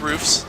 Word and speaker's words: roofs: It's roofs. Okay. Like hoofs.